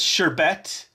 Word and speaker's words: sherbet: This says sherbet, pronounced sherbet, is the usual word for the frozen sweet dessert made from fruit or fruit juices.